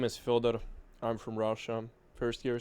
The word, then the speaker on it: Fëdor: Can you can you tell them like how to pronounce it correctly? Yeah, my name is Fer.